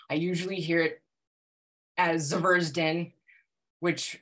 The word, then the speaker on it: Zvirzdin: usually hear it as zversed in which Rhymes if it helps it rhymes with slurps gin or Bird's chin maybe that maybe that